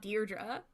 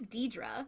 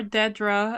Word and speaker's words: Dedra: Her name is not Deirdre. It is Deidre. It's Deidre. Well, yeah. I'm notably illiterate. Or Dedra, as the one ISB guy Oh says.